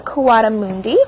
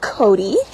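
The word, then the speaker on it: coatimundi: is a white-nosed karate also known as a kawada Mundi or can also be pronounced Cody he is six years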